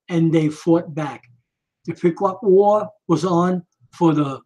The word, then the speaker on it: Pequot: Pequot, I got it. But the Pequot nation had not agreed to the peace treaty. Squanto had negotiated, and they fought back. The Pequot War was on for the bloodiest Indian wars ever fought.